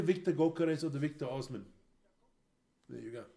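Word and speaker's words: Osimhen: It's either Victor Gawker or the Victor Osman. There you go. Or the Aussie men as he's pronounced.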